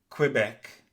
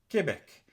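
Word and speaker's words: Québec: In English you say Quebec whereas in French you say Quebec. Therefore, the Q U in French is pronounced like a K.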